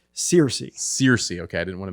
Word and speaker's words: Searcy: you guys this is philip how do you pronounce your last name cersei searcy okay i didn't want to mispronounce it um